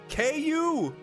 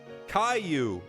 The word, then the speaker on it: Caillou: do you say his name KU I've never seen the show